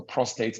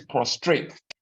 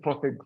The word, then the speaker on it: prostate: I think it's prostrate, as a lot of them say. So what is this prostate issue?